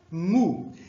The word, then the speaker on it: mu: Aqui a gente vai falar iota, kappa, lambda, mu. Interessante que essa aqui, em português, também se escreve MU, mas a gente fala mi. Eu não entendo por que exatamente, mas em inglês é só falar mu, ok?